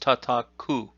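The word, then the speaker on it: 叩: five comes straight down the on reading of this is coal and the kuhn reading of this is tataku now the parentheses indicate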